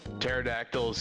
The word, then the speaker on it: pterodactyl: Um Gosh, I don't Why do you never hear uh pterodactyls get up to go to the bathroom in the middle of the night? Yeah, the P is silent.